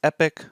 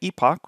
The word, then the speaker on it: epoch: And depending if you pronounce it the American way, which is epic, or the British way, epoch, which is the way I pronounce it, essentially one epoch